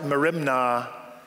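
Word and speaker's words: μέριμνα: in nothing the word anxious in greek it's pronounced like merimna and it wanes in greek all directions when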